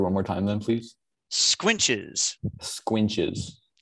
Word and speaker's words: squinches: is correct all right our next word is squinches squinches um count the definition the definition is supports such as arches or lentils carried across the corner of a room under a superimposed mass squinches okay um kind of the part of speech